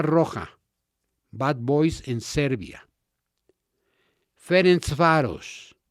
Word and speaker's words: Ferencváros: Miren, algunas de las barras más bravas del mundo son Estrella Roja, Bad Boys en Serbia, Ferencváros, y lo pronuncio así porque hablo húngaro, este es de Hungría,